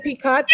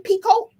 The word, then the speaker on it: picot: that part right again picot pico the t is silent oh well then there